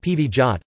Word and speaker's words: powiat: A powiat, pronounced pivijat, Polish plural, powiaty, is